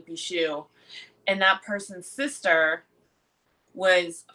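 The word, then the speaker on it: Beauchamp: So, one of the other characters is named, excuse me, Percival Bichou, which I think is the French pronunciation of Claire's maiden name, Beecham. It's actually French.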